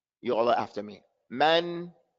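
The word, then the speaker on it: مَن: Man, you have to open your mouth.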